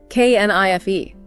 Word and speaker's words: knife: K N I F E, but no K sound, just knife.